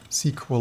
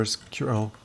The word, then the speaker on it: SQL: So this is running a full-blown tiny SQL or SQL. I actually wanted to pronounce things, not how I, in my opinion, think they make more sense. SQL, not SQL. SQL.